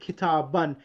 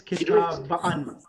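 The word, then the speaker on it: كتابًا: So you just write the alif in the accusative case when it's an object, but it's not pronounced, but it just is added to the words. You read it kitaban. You don't read it as kitabaan.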